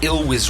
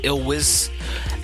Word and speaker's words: Elwes: name so bad i i could not pronounce ill was right i kept pronouncing ill wiz and finally after about